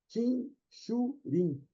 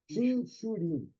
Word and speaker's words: Chinchurin: Eles usam fonemas paro de pérola, paro, e o termo original é Chinchurin. Observe que é o CH de novo, aí é Chinchurin, é o escama de pérola.